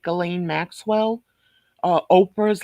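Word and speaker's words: Ghislaine: it's true they're saying Barbara Walters was like galain Maxwell uh Oprah's like galain Maxwell and that's how you pronounce her name it's not I like the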